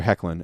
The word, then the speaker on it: Hoechlin: okay say oh and before anyone else it's pronounced hoechlin I was like note to self so anyway